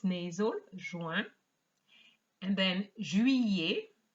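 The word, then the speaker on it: juillet: nasal join and then jui and not juliet as i often hear and then it used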